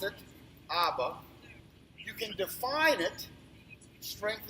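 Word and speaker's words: אבא: Hebrew reads this way you can you can pronounce it ABA you can Define it strength of the house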